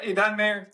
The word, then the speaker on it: Idan Meir: Did I pronounce it right this time? Yeah, Idan Meir.